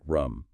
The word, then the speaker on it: RUM: First, passive monitoring, which is often called real user monitoring, or RUM, pronounced RUM.